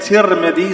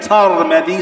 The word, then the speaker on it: Tirmidhi: Some of the scholars said Tirmidhi, some said Tarmidhi, some said Turmudi. So it is pronounced in different ways.